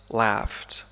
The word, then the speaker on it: laugh: هي laugh, يضحك, laugh, تنطق بطريقتين مختلفتين. فالإنجليزية الأمريكية تنطق ب laugh, مثل cat, laugh, cat, لكن في الإنجليزية البريطانية تنطق ب laughed, مثل father, father, I laughed, I laughed. فهذين الحرفين ينطقان كما ننطق آ في father.